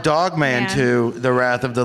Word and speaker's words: Dog Man: the rest of the litter that is correct Dawg man to jog man to the wrath of the litter oh did I say it wrong yes you did call the damn dog it's called dog man to the wrath of the litter nah man